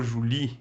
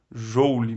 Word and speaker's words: joule: entalpia calorias ou júri já ouvi o juli você vai escolher a sua pronúncia eu particularmente leio jolie mas eu sei que muitos nem jauli tá certo é importante saber que